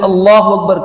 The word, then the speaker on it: اللہ اکبر: تو نماز نہیں ہوگی۔ اس لیے صحیح تلفظ ہے اللہ اکبر، حمزہ کی زبر کو آ کر کے لمبا کر کے پڑھنا بھی غلط ہے۔ جب اللہ اکبر کہا تو اس وقت